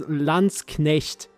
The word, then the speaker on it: Landsknecht: I'd say in modern German the pronunciation for that is Landsknecht, but you Yeah.